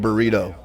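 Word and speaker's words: Brito: b-r-i-t-o b-r-i-t-o no no i'm gonna pronounce that burrito that's that's good is that is that actually how it's pronounced yeah so okay okay how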